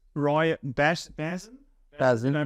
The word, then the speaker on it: Bhasin: Bhasin, Did I pronounce that right? Yeah. Roy Bhasin.